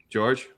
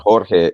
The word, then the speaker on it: Jorge: For me, and going back to why it's George and not Jorge, is yes, it's spelled Jorge, but I've always been referred to as George.